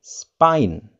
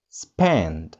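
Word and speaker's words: Spain: Spanyol, if we translate it into English, we may say spine. Spine. Spine. Itu kalau pengucapan dalam bahasa Indonesia. But how to pronounce it in English correctly, we may say span.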